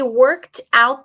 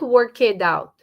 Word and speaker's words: worked: Can you hear the T? Worked out. Not work it out.